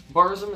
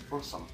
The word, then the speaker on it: Burzum: Now, Burzum is how most people pronounce it, but it's actually pronounced Borsum.